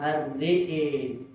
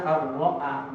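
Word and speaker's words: رآه: Teman-teman, ro'a melihat itu dalam riwayat yang lain banyak sekali dibaca dengan imana ar-re'e. Jadi kalau teman-teman safari ke beberapa negara di Timur Tengah atau di negara Maghrib itu bacanya ar-re'e, baca iman. Kalau kita ar-ro'a jelas hamzahnya.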